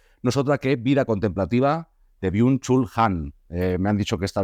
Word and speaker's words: Byung-Chul Han: luz del pasillo nosotra que vida contemplativa de biun chul han me han dicho que está bien pronunciada en castellano así que me quedo tranquilo